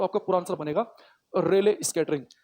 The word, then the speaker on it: Rayleigh: तो आकाश नीला दिखता है, अगर क्वेश्चन आ जाए तो आपका पूरा आंसर बनेगा रेले स्कैटरिंग। ये रेले एक साइंटिस्ट का नाम है, ये रेले, RAYLEIGH, थोड़ा स्पेलिंग अजीब सी है इसकी, रेले स्कैटरिंग, रेले प्रकीर्णन, रेले प्रकीर्णन।